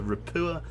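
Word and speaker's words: Ropucha: I've got told that the ch is silent, so Rapua and Alligator-class transports with their escorts.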